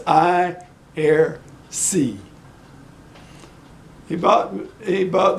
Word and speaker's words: Aiersi: to buy it and I err say I ear see I know Rick you gave me the pronunciation anyway it's I err see he bought me he